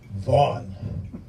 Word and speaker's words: Vaughn: Bringing up the rear, you guessed it, Vaughn. 6 letters, 2 silent, a dreadful 67%, 1 whole syllable, you can't do worse.